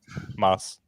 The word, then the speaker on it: Mads: I like Well, I like I like Mads Mickelson in it. Or was it? Yeah, it was mad, right? No. And you're pronouncing his name wrong. Just stop. How do you pronounce it? Moss.